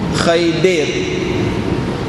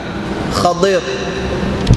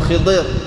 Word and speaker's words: Khadir: hamba Siapa orang ni orang Melayu kita sebut Khaidir dia lafaz yang paling tepat ialah Khadir Khadir ataupun Khidir ejaan dalam hadis k ro Khadir Ustaz saya panggil khaid